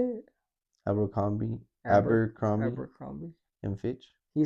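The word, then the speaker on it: Abercrombie: Abberrombie. Amber Crombi. Mitch. He said that. How can people say it's Amber? I've never heard anyone call Amber Crombie.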